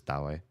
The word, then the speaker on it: Dowie: And IRL, it's am I saying it right if I say Dowie? Does that sound right? Sounds kind of like the Mandarin version of David, which is Dowie.